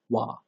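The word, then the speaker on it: は: And please notice that the character here is being used as a particle, so we pronounce it as wa.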